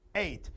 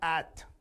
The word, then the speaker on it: ate: eaten eat eight pronunciation eight just like the number eight eight same pronunciation not at i see a lot